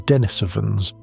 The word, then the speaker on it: Denisovans: The population that would eventually produce us, the Neanderthals, and the Denisovans, pronounced De-ni-so-vans.